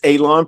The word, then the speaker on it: Alon: You already know my name is Alon, pronounced like you're going to cut alon. It's not spelled that way, but it is pronounced that way.